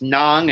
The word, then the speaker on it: ng: I pronounce the NJ and yeah, it's Nang and Mga.